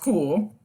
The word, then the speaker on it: CeWL: Okay, so Cool, pronounced Cool, is a custom word list generator tool that spiders websites to create word lists based on the site's content.